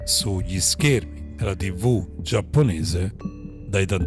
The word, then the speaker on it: Daitarn: Daitarn, che raccomandiamo di pronunciare senza la R, è uno dei robottoni più potenti disegnati nei cartoni giapponesi.